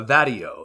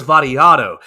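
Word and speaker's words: Vattiato: name earlier Nicholas Barrio that video uh vadio is is his name that's not that's not how he say his name let me rewind this in here daddy Otto yes that's what it's Nicholas variato is is how you pronounce the name and Nicholas variato who's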